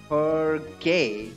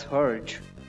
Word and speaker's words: Hergé: Hergé. Is that how it's pronounced? I always pronounced it as Herge. Obviously, there's a... that... whatever you call that E.